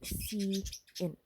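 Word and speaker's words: cin: like clcn is defined in a standard header file IO stream stands for console input and is pronounced as C in the console therefore does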